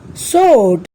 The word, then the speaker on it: sword: let's find out some other words where W is silent wrong wrist right whole to answer wrapper sword এই শব্দবিলাকত বাৰু আমি কি দেখা পালো আমি